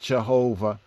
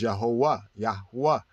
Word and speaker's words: Yahuwah: we look at Jehovah it wasn't pronounced Jehovah according to the first translators it was yahuwah yahuwah which brings out